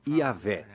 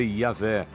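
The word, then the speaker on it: Yahweh: Assim, seu título era Deus, e seu nome eram essas 4 letras, YHWH, que provavelmente eram pronunciadas Yahvé.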